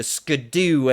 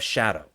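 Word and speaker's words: Scadu: But in reality, that's just the old English spelling of shadow. It's pronounced shadow.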